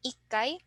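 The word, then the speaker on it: 一階: Otherwise, the other counters with the special pronunciations are the same. So we have ikkai, sangai, rokkai, hakkai, and jukkai.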